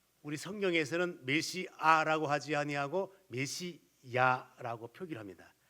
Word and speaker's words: 메시야: 왜 그런가 하면은 일반 이제 문화 속에 다른 언어들을 보게 되면은 아 쪽이 맞아요. 그런데 히브리 발음의 모습은 야 쪽이 가까워요. 그래서 성경을 번역하는 사람들이 그러면 아보다는 히브리어 원문 발음 가깝게 야라고 번역을 하자. 그래서 메시야라고 번역을 한 거예요.